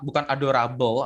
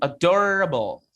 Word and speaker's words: adorable: Jadi bukan adorable atau adorably, tapi bacanya adorable. Jadi lebih ke gini, R ke A-nya itu kayak cepat gitu. Adorable, bukan adorable, bukan rebel, tapi rebel.